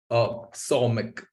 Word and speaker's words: Somik: I want to welcome Andy and Fahim, is new and how do we pronounce it? Somik? Somik.